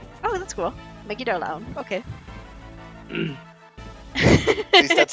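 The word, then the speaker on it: Megidolaon: You pronounced it correctly. Oh, that's cool. Megidolaun.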